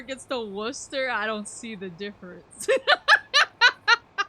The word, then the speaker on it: Worcester: People playing Fallout 4 gets to Worcester, I don't see the difference.